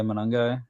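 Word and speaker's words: Monangai: And Kyle, um, Monagai, is that how you say it? Running back from Ruters. Yeah, Manangai.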